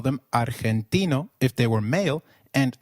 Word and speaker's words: argentino: Did you notice that argentino is pronounced as argentino. In Spanish, g when followed by e or i is pronounced like a throaty h. So try saying argentino again. Argentino.